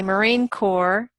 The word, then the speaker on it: Marine Corps: Obviously, when you say Marine Corps, you don't pronounce the P and the S.